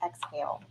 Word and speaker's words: XAEL: XAEL, pronounced exhale.